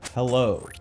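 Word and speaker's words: hallo: how do you say hello in Dutch?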